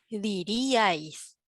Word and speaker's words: diríais: cerradas acentuada entonces ya no podemos pronunciar en una sola sílaba no decimos diríais pero si no decimos dir y ax por lo tanto separamos de esta manera gráficamente dirie a mi raya diríais porque es fuerte con fuerte se separan nos damos